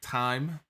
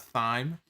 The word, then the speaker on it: thyme: and thyme roasted potatoes that is how you say it right time it's not thyme i've heard you could say both ways in the uk for